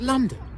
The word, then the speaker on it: London: Now, it's pronounced London, although we write l o n d o n.